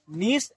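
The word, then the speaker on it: gneiss: So marble, slate and नीस, इसको जिनिस लिखे लेकिन जी इसमें साइलेंट रहता है, नीस इसको पढ़ेंगे।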